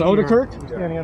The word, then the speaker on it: Odekirk: It is Odekirk? Is that how it's pronounced? That's correct.